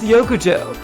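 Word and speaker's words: 浴場: In Japanese, bathhouse and lust are both pronounced yokujo, and it got converted the wrong way.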